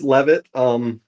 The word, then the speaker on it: Leavitt: yeah, it's Levitt. Sometimes people call me Leavitt, which is just fine, but the way it's pronounced here in kind of the desert Southwest where it is popular is Levitt.